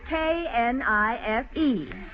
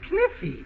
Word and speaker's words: knife: Class, I will spell the word K-N-I-F-E. That's kniffy. No, the word is knife. K is the silent letter. K is always silent in front of N.